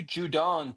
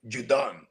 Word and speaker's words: Judon: And the Dolphins are signing Matthew Judon to a one-year deal. I like how you pronounced it correctly. Judon.